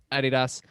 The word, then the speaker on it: adidas: is named after its founder adolf dazzler nickname was adi there you go i guess adi yeah so that's so that for me is why i to this day i still think nope adidas but then how would